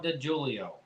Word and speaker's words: DeJulio: So you do pronounce the J? Oh, okay. So we're the ones doing I'm wrong. Dawn DeJulio.